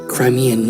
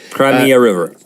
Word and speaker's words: Crimea: Russia annexed Crimea and until you say it right you always want to say it the wrong way cry me a river they made an announcement